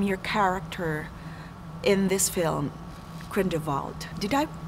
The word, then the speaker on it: Grindelwald: What do we expect from your character in this film, Grindelwald? Did I pronounce it correctly?